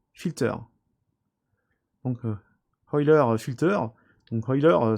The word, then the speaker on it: Euler: Donc Euler Filter, donc Euler ça se prononce presque comme du pétrole, donc Euler Filter, donc on le sélectionne cet outil et on clique sur OK.